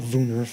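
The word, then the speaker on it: woonerf: a term for it they call it a woo Nerf or a voonor I guess because they pronounce the W like a V um and it's where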